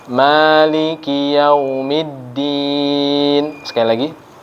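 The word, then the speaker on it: مالك: Maliki Yaumiddin, tapi yang ini kita bacanya panjang di mim. Maliki Yaumiddin. Sekali lagi. Maliki Yaumiddin.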